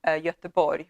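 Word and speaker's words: Göteborg: an hour away from yatabori which is known as gothenburg uh and yatabori is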